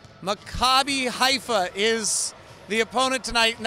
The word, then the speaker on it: Maccabi Haifa: So it's Maccabi Haifa is how you say it.